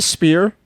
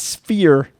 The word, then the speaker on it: sphere: you call it the spear what the spere spear sphere the p is silent bro it's sphere spear it's not a